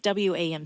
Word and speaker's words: WAM: It's WAM. What does WAM stand for? It stands for We Are More, but it's simply pronounced WAM.